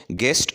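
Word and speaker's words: guest: इसके बाद है गेस्ट और इसमें यू साइलेंट है।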